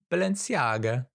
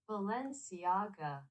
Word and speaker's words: Balenciaga: Baga how do I pronounce Balenciaga how to pronounce Balenciaga Balenciaga Balenciaga yeah Balenciaga and so they all become very